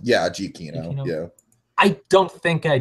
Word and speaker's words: Giacchino: Yeah, Giacchino.